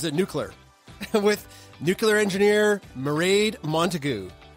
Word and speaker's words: Mairead: With nuclear engineer Mairead Montague. Mairead rhymes with parade.